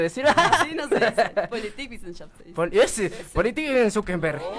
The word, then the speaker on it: Politikwissenschaft: Politikwissenschaft se dice.